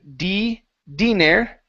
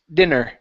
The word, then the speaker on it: dinner: Instead of dire, it's dinner. Dinner.